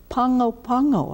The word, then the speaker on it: Pago Pago: was said nice as well how do you pronounce it and he goes Pongo Pongo and I thought how did he get that